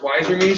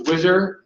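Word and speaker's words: Wizer.me: We're going to talk about, it's pronounced Wizer me, so those of you that thought it was Wizer, it's not as cool, sorry.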